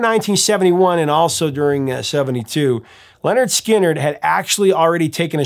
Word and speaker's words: Lynyrd Skynyrd: 17 would make it onto their official debut pronounced Leonard skinnard in 73 uh those songs included give me